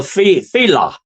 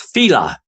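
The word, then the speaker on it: Faoladh: They are called the Fila. That's how you pronounce it. It's not spelled that way. It's spelled Laofadh. Okay, it doesn't look like it at all like it's, but it's pronounced Fila.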